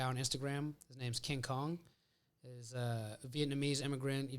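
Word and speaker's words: Khang: King Kong yeah but it's spelled k-h-a-n-g okay pronounced Kong what is the Vietnamese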